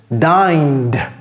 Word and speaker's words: dined: Et donc, lorsque vous avez une vibration ici, et je vais contraster ça avec cette règle tout à l'heure, vous prononcez le passé simple en d. Dined.